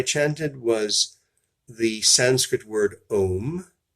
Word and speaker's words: om: was the Sanskrit word ohm you could spell it om in English oh as an orange Amazon mother Oh has no meaning in